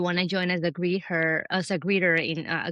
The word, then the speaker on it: Greether: And lastly, if you um if you want to join as a greeter as a greeter in a greeter platform. So by the way, it's greeter at the company and then our greeters we call them greeters.